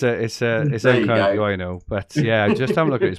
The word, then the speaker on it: Nkunku: Nobody knows who I'm talking about because I can't pronounce it. But Nkunku, it's Nkunku, I know, but yeah, just have a look at his price.